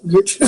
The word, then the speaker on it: Yurchek: Do you pronounce the Y? Yurchek? Yeah, yeah.